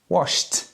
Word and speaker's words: washed: The second verb, washed, the ED sounds like a T, washed.